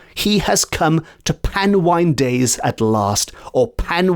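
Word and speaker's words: panwan: to quote it is pan wine days with him with pan wine being spelled p a n w a n and I hope pronouncing that correctly but it is pan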